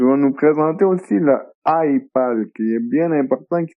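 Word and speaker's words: iEyePal: Comme autre machine, tu vas nous présenter aussi le iPal, qui est bien important, qui s'écrit I-E-Y-E-P-A-L. Donc, comme un œil avec le mot pad.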